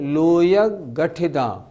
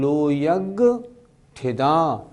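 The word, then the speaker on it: लोयग्गठिदा: कुछ लोग कैसे बोलते हैं? लोयग गठिदा नहीं वो उच्चारण ठीक नहीं लो गठिदा नहीं लो यज्ञ ठिदा लोकाग्र स्थिता लोक के अग्र भाग में स्थित है निच्छा नित्य हैं।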